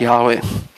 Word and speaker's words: Yahweh: that spells Yod He Vav He, which is pronounced Yahweh.